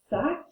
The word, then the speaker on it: sac: We pronounce it sac. Kind of sounds like the American word for sock.